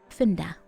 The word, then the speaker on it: Funda: houses um let's see Funda it's not fun though even though it's spelled that way Amsterdam Amsterdam let's look